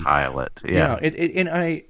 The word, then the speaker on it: Pilate: just to be helpful, it's pronounced, and there's a little pronunciation key. Pilate, yeah.